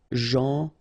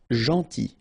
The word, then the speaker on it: gentil: Gentil. So it's a strange one because here this final L is not pronounced. Okay? Gentil. Gentil.